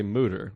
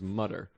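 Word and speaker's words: Mütter: but everyone else called it Mudder it's you and Rebecca Trent say mooter Google anyone else I've ever met says mutter call in with your uh answers I went what is it either either pronunciation it's a it's a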